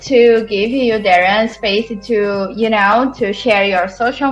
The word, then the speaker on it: Darragh: So it's Darragh, DarraghMckay. The GH in my name is silent, I should say.